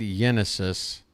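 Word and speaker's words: Génesis: I think it's pronounced Genesis, right? It could be Genesis, obviously spelled as Genesis. Is on the pitch. Left-handed reliever. It is indeed Genesis.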